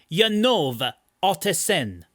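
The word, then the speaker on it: Janove Ottesen: And the people who speak that language are like, no, it's Janove Otteson, right?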